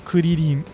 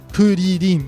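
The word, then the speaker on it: クリリン: The R's in Kuririn aren't actually R's. They're just the best approximation of the sound that is being used in Kuririn.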